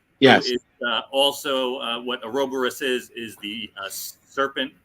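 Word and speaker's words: Ouroboros: or a robo-russ yes uh also uh what aerobarus is is the uh serpent that eats its own tail or are you talking about or Boris yeah thank you for the correct pronunciation oh the never-ending story snake yeah this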